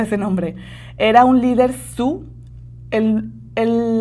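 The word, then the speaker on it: Sioux: nombre, era un líder su. El el la palabra su realmente se escribe s i o u x, pero como viene del francés ni la i ni la x se pronuncian.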